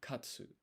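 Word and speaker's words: 勝つ: So to get it's to win is ah so you do pronounce the u here. Katsu.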